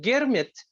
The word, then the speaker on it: Girmit: Actually, Girmit, which is contract, yes, comes from the words agreement, so that the pronunciation of agreement by indented laborers in their way of pronouncing agreement was Girmit, and that happened in